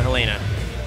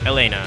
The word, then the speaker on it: Helena: And there we go, just as I said, here comes the Helena. Or Elena, I think. It's supposed to be French. I think the H is silent in French?